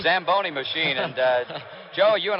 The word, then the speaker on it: Zamboni: it's a tell you you should have pronounced it what does it call the samboni Zamboni machine and Joe you